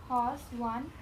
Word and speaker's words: one: One bottle cobble fondle gobble nosle and Yeah. This is a very peculiar sound actually one. Okay, this is not following any rule so far as sound is concerned.